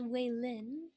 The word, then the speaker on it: Wei Lin: I believe I've been informed that it's pronounced Wei Lin. We'll have to see uh, Keep how saying Waylon.